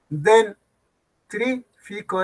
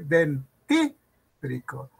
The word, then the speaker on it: dentífrico: Dentrífico está mal. ¿Cómo debe decir? Dentífrico.